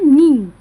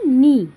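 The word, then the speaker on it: knee: ইংরেজিতে কি বলে দেখো কে এন ই তাহলে নি উচ্চারণটা কি হয়? নি।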